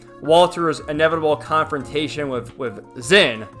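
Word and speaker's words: Zin: inevitable confrontation with with Zen. I know they they pronounce it Jyn, but I'm going to keep calling him Zen unless someone tells me otherwise. It's just what I'm used to, I guess.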